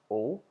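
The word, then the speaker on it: aux: Um finally with plural countries we use a ux which is pronounced as o but um when it comes before a vow makes out the z sound.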